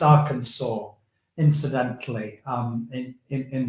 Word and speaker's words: Arkansas: that's where I'm registered to vote it it's pronounced Arkansas incidentally um in in in the states that's